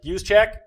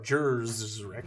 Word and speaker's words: Juszczyk: I got Juszczyk, Coleman, or Jerzrek, as I like to call him. They pronounced it right on the Fox broadcast, and it threw me for a loop. They pronounced it like how it's actually pronounced, not hilariously pronounced.